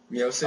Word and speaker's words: Miocic: Or Stipe Miocic. Mm. How'd I say it? Did I say it right, Rob? Miocic? I believe that's correct, yeah.